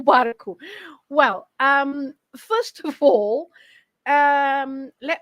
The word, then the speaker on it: barco: o garfo versus o barco. Well, first of all, let me say that the O never has a silent sound.